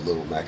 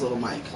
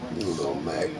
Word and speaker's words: Little Mac: Oh, Little Mac. I knew I was saying it wrong. Oh, I thought it was Little Mike. Fuck. Little Mac.